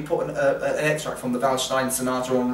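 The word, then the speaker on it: Waldstein: trills I suggest you listen to uh Beethoven's valstein um spelled w l d it's like walstein but it's pronouncing valin w the s i n the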